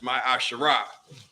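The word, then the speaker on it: מעשר: three eight through ten means 10th in Hebrew and it's pronounced my asherah ten percent of every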